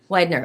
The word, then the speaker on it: Weidner: how do you say your last name before Widener okay that's what I would have said but